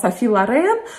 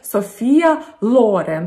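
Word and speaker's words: Sophia Loren: русским за зовущегося софи софи лорен она на самом деле в итальянском языке зовется софия лорен с ударением на о и имя и о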